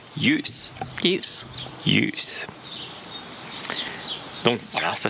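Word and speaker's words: ljus: Et enfin, LJ va lui aussi se prononcer comme un Y en français. Alors, on a un exemple ici, c'est la lumière. Hein. Yup. Oh non. Yus.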